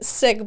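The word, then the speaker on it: Sikh: really funny um okay so you said sick but you mean like the religious yes how do you spell it isn't it like an interesting spelling s i k h okay that's what right so people just don't have in their mind like coughing sick yes right can you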